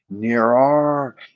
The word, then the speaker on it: Nyarlathotep: Nyarlathotep.